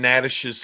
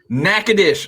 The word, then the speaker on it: Natchitoches: Yeah, he got them in Natchitoches, Louisiana. Natchitoches.